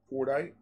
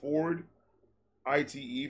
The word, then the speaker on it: Fordite: The layers in it are called Fordite. I don't know how to pronounce it. Ford. I-T-E.